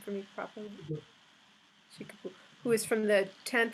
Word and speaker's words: Shikibu: Shikibu, who is from the 10th and 11th century,